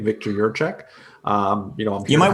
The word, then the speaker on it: Jiracek: my full name victor your check um you know you might want to spell that because it you know your last name is your check but it's not spelled like your check so tell the audience